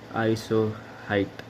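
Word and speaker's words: isohyet: Rain हुई हो तो उसको हम बोलते हैं आइसोहाइट। The spelling is आई एस ओ एच वाई ई आइसोहाइट।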